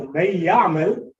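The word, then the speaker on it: من يعمل: So may ya'mal. So it's written like this, it's pronounced like that. So the noon became silent, the ya became double.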